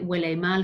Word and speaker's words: huele mal: I like huele mal because it makes me think of smelly wellies.